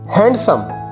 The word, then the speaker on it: handsome: break fast wrong pronunciation handsome handsome not handsome it's a handsome handsome d silent hashtag